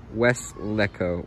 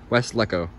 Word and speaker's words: Weslaco: people struggle with the pronouncing of weslaco it's pronounced wes lecco with weslico texas west lecco i see interesting west leco i was thinking